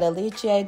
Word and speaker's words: Alice: event is floor exercise we will look at alici diamanto from Italy and yes us Americans would pronounce it Alice based on the spelling but I digress diamanto is currently in